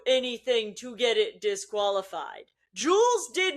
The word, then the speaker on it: Jules: I say Jules Gounon, which is correct, but I say Jules if I'm saying Jules in isolation. I don't know why I do. It must be Duolingo. The stupid owl has me saying it correctly, because I am doing French.